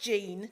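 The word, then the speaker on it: Gene: It's pronounced Jean, it's spelt G-E-N-E, but we call it Genie because Jean's a little bit boring.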